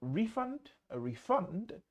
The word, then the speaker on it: refund: Ударение может сначала, может в середине. Как хотите, все варианты подойдет, okay? Но часто на английском refund, то есть to refund and a refund, to refund is a verb, but a refund is a noun. Ударение на первый – существительный, ударение на второй – глагол.